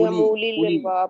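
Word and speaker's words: أولي: में आ रहा है इसको उ नहीं कहेंगे जी उली लंबा पढ़ते रहे इसको उलू उली ये वाव जो है ये लिखने में ये साइलेंट होता है उसके ऊपर देखें आपने वो गोल दायरा लगाया हुआ है ये नहीं पढ़ा जाएगा बस यानी हमजा पेश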